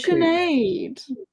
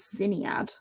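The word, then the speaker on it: Sinéad: now cougar cougar I I think um it's chenade it's chenade so many people pronounce it syat who pronounce it like that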